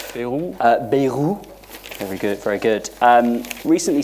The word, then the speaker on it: Bayrou: But the French Prime Minister, who I actually have a hard time pronouncing his name, Bayrou, very good, recently said, and it's here somewhere,